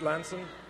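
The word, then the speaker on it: Lansing: man oh ninja attack the G the g is silent right East lansen yes yes it's a silent G but I got to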